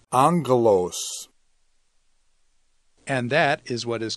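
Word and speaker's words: ἄγγελος: gammas in a row the first one is pronounced like an N so it's angle owes not a gloss it's Anglos and that is what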